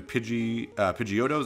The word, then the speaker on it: Pidgeot: Pidgeys turn into Pidgeotos and then Pidget or Pidgeot, depending on how you want to pronounce it.